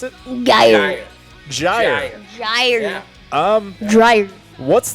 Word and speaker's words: Gyre: Is that how you pronounce it? Gyre.